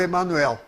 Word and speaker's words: Emanuel: eu nunca falei manda porque é um nome hebraico esses nomes hebraicos todos terminem réu tem o acento na última sílaba daniel salatiel natal é o joel todos e mini é o emanuel agora o chico para